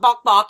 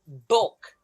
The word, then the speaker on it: Bouck: It's not bobbach. It's bulk.